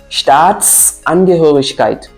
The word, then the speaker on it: Staatsangehörigkeit: Staatsangehörigkeit. Le S qui est là permet de relier les deux mots et nous permet aussi de faire des petites pauses lors de la prononciation.